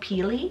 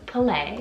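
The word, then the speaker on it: Pele: PE le I would think that it's called pili but it's play and the meaning behind the name Palais she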